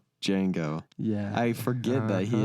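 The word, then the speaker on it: Django: he's in yeah yeah starts with a silent D how many movies do you know that start with a silent D Jango yeah I forget that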